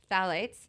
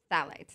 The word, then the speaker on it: phthalates: I saw that word before. P-H-T-H. No, you were trying to pronounce it. You got Phthalates. You're a phthalate. Is it phthalate?